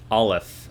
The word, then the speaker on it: Aleph: And I have, or am I pronouncing this right? Aleph? Aleph.